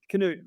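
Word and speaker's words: Knute: Is it Canute? Rockney, or is it Newt Rockney? It's Canadian. Pronounce it. Canute. Okay, Canute Rockney.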